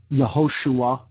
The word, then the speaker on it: Yeshua: spells notation Bob hey which is Yeshua or the name of Jesus in Hebrew some would pronounce that yahushua or uh joshua okay but it's essentially